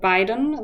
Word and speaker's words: Biden: They can be difficult to pronounce, and there are names like Biden, the US president, and Biden, which is German for both, and they are spelled differently.